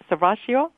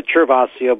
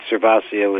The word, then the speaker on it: Cervasio: it correctly your name sasio that's perfect sasio and in the south of Italy they might prefer chaso but here in the state cervasio is perfect oh okay I just